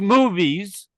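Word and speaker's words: MOVS: That landing page is a m ovs moves which is pronounced movies movies.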